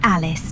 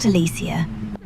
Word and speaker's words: Alice: It's Alice, not Alisia.